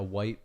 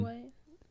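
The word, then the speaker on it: wight: was I didn't either is that how you say it a white or a wig that's how that's how they said the a white like the color like a white I'm pretty sure yeah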